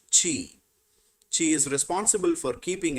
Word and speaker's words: Qi: The third is Qi, pronounced Qi.